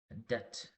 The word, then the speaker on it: debt: Debt. But normally we pronounce as a debt.